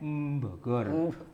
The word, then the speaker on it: Bogor: Ya, kecuali orang Jawa menyebut Bogor pakai M, M Bogor, M Bandung.